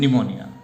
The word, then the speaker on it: pneumonia: P is silent here, silent word, and pneumonia.